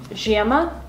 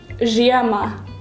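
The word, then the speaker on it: žiema: Zhema. Once again? Yeah. Pajama. There's one letter in there that's pronounced differently. Because I've heard Ukrainians and Russians say this word.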